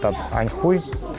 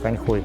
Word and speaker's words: Anhui: name of Anhui province In Russian, it's called "Anhoi" because "Anhui" reminds one swear word But in Chinese, it is pronounced as Anhui This is a really